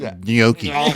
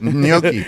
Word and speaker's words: gnocchi: You gotta sound like you're swallowing in the middle. It's like gnocchi. That's the correct pronunciation. That's right, gnocchi. It's phonetic thing. Yeah. You had that. GN swallow oki.